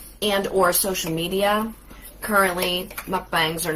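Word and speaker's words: 먹방: a japanese word actually it's mukbang it's really how it's pronounced but what's it mean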